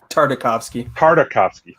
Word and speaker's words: Tartakovsky: really good stuff with I always get the name wrong, Genndy Tartakovsky or Tartakovsky? Tartakovsky. Thank you, Brandon.